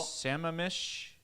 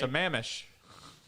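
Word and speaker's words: Sammamish: baker and hi bill sama mish washington sen it's not what did you it's s-a-m-m-a-m-i-s-h sam amish yeah that's not quite how you say it it's amish i know how but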